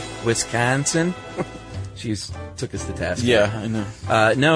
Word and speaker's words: Wisconsin: And we you don't need to drag out the A like that. She said that's just a bunch of bunk. And she said I guess some French still spell it oi Wisconsin. So Wisconsin.